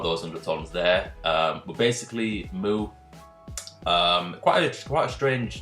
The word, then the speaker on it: MW: But basically, Mu, quite a strange name for a manga. It's spelled MW, but it's actually pronounced Mu.